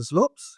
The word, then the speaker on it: Zloops: The Zloops? Is that how you pronounce it? Yeah, slopes, yeah.